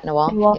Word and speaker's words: Nawal: of the first times, and Nawal, am I pronouncing her name right? Yeah, Nawal.